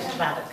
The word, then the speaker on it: Szwarc: Schwarz, pero él lo pronuncia mejor, porque de verdad sería Schwark.